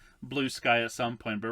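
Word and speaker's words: Bluesky: Everyone's going to what I originally thought was called Blueski, but I think it's pronounced Blue Sky.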